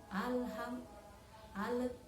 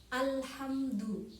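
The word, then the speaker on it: الحمد: Hai alhamdulillahirobbilalamin Alhamdulillah nah perhatikan disini lam itu sukun namun seringkali kesalahan yang terjadi dibaca seperti Qalqalah halo halo alham alham adzi itu tidak boleh karena huruf Qalqalah itu ada lima terima Hai coftof badzine Jadi selain huruf kelima itu tidak boleh kita pantulkan atau tidak boleh dibaca Qalqalah jika sukun harus jelasin baca sukun al-hamdu lele alhamdulillahirobbilalamin ya seperti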